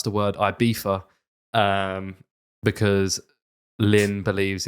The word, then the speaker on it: Ibiza: knew it all along, that Ibiza is the American pronunciation, and then the Spanish say Ibiza. So they say it with the F, not the Z.